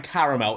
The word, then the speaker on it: caramel: How many syllables are in caramel? It's 3. Caramel. It's not caramel. There's an A there. It's not caramel. Caramel.